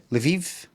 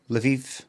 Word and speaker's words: Lviv: Lviv. Lviv.